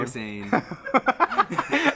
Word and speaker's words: Hossain: Hossain.